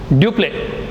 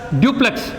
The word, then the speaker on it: Dupleix: Next, another person who came, a French person came to India, Dupleix. Not you don't pronounce as duplex. Dupleix. The X is silent.